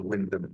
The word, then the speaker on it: Wymondham: Wyndham, place called it's called Wyndham, pronounced Wyndham, but spelt Wymondham near Norwich.